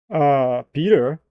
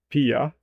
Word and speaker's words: Peter: You know how Hyper would pronounce it? Pia. Peter. Pia. Where's the T, Hyper? Where is the T, bro? I mean, I will be honest. I would say Peter. Waha. Can I grab a bottle a bar of water? Bottle of water. Pia. There you go. But no, I would say Peter. Peter. We don't pronounce our T's.